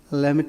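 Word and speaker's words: Lhermitte: This is known as Lamit sign or maneuver. Okay. So here what sometimes this is pronounced in a different way. The best is Lamit sign, as the people say. Pronunciation is little different, and sometimes you have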